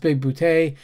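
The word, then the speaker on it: Bigboote: Christopher Lloyd is his brilliant self as usual, as John Big Boutte, pronounced Big Boutte.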